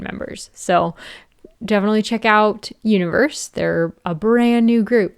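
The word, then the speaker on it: 1VERSE: And also, um One Verse or Universe is actually how it's pronounced, but it's spelled One Verse is a new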